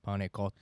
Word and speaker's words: pane cotto: Pane is how you say bread, Oh, and I think the second word's like cotto, cotto, pane cotto.